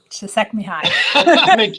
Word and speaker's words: Csikszentmihalyi: sort of unique place that I can never pronounce his name, but the very famous Mihai, long last name. Csikszentmihalyi.